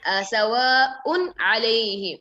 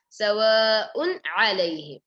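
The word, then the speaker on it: سَوَاءٌ عَلَيْهِمْ: Then sawa'un alayhim. This is a very dangerous place. Actually, it's a dangerous place. So here Hamza, then Ain.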